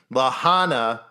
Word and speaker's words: Lahana: went to the Lahana which is spelled it looks like it's Legenta but it's Lahana camp site where of